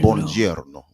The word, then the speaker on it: buongiorno: Buongiorno. More of a J, right?